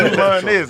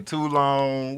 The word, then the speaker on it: Tulones: It's Tulones. It's too long. They say too long.